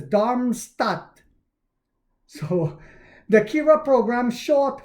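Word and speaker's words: Darmstadt: DB said the service will expand to part of Damstat later this year. I know I pronounced that improperly too. I'm killing that. I believe it's Dharmstat.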